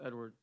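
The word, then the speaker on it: Edouard: so i'm like oh it's spelled e-d-o-u-a-r-d correct yeah yeah yeah edward it's just spelled in french i'm unfamiliar so thank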